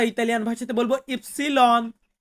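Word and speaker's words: ipsilon: ওয়াই কে আমরা Italian ভাই এর সাথে বলবো ইফসিলন ইফসিলন এন্ড লাস্টে যেটা আছে সেটা হচ্ছে জেতা জেতা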